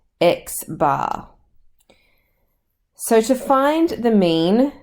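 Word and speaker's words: x̄: It is pronounced X bar.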